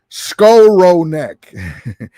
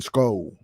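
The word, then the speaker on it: Skowronek: says uh hey Rudy you're not pronouncing Ben scroll Nick's name right Ben skull roll neck yeah I guess he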